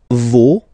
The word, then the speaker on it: vos: Okay, and then for the plural, nos, vos, and then leur. Okay, so remember, even if you've got this final S, you don't pronounce it, as it was the